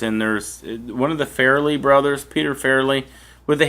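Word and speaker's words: Farrelly: always called it the Fairly no they're they are called The Fairly Brothers yeah they're not farling Brothers they're fairly Brothers what are you trying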